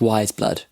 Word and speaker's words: Weyes Blood: just googled her and it says apparently it's pronounced wise blood so sorry about that